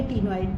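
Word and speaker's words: ctenoid: इसके अलावा अब जो स्केल्स हैं they are placoid in cartilaginous fishes, cycloid या टीनॉइड टाइप, CTEN, मतलब इसमें C साइलेंट है।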